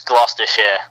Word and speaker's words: Gloucestershire: It's Gloucestershire. It doesn't, you don't pronounce it how it looks.